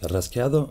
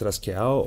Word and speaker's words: rasgueado: Rasgueado means scratched, but in Andalusia, the D is not pronounced. So it's rasqueado or rasqueo or rasgueo with G, whatever.